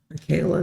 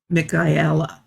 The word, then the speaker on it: Michaela: that's why I told Michaela that no it's not Michaela it's mikhaila sorry my pronunciation of names